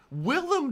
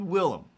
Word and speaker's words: Willem: i'm looking at it it's spilled willem right i can see that he doesn't have the iam uh like where will i am it's it's you know it's it's ends in em i'm just like am